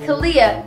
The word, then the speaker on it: Kalia: Kalia, your name rhymes with onomatopoeia.